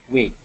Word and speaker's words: weight: help you with the pronunciation of weight weight eight yeah wait wait wait